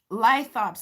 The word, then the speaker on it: Lithops: Lithops. It's like Cyclops, only lithops.